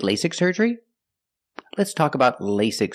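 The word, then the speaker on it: LASIK: about lasic surgery first pronunciation lasic the first vowel is a long a like say and day lay lasic the second vow is a short I sound like this is lasic lasic surgery pronunciation surgery use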